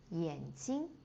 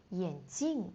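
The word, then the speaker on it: 眼镜: And we have the words yǎnjīng. Yǎnjīng is the eye. And if you change the tone and change the character, yǎnjìng is the glasses.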